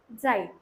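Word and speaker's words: Zeit: अभी जेड का pronunciation, Z कहीं पे भी कभी भी वर्ड के बीच में आ रहा है, स्टार्टिंग में आ रहा है, एंडिंग में आ रहा है, उसका प्रोनाउंसिएशन टी जेड वाला, TS वाला रहेगा। जैसे कि साइट, जाइट।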